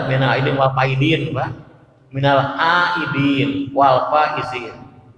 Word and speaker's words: minal aidin wal faizin: Jangan salah bacanya, ada minal aidin wal faizin, Pak.